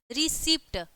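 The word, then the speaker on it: receipt: तो ये बोला है कि ई आता है, अगर सी के बाद ई आई वाई आता है तो सी का उच्चारण क्या हो जाता है, स हो जाता है।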